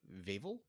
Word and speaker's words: Vavel: And the one thing that Vavel rhymes with navel.